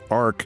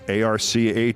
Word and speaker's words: arch: He thinks it's pronounced Ark. He thinks ARCH is Ark.